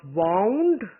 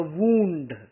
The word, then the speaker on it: wound: The bandage was wound around the wound. Wound is to tie and wound is a hurt. The spelling is the same, the pronunciation is different.